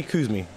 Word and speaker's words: Cuzme: do you pronounce it I I say coos me Koos me is my name and what does marries